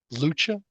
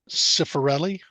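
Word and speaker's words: Lucia Cifarelli: I am giving you Lucia. I believe that's how her name is pronounced. Lucia Lucia. Cifarelli, Cifarelli.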